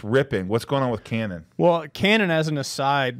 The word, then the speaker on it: Canaan: I want to go to, I never say it right, is it Canna? Canaan. Canaan.